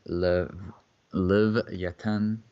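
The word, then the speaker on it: לויתן: so here we have leviathan pronounced in hebrew as live yet and jewish mythology a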